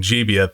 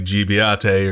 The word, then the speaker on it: Gibiate: and apparently i've been mispronouncing jibiat this entire season and that's my best approximation to the japanese i mean can you blame me it does look like jibiate or something like that right anyway when i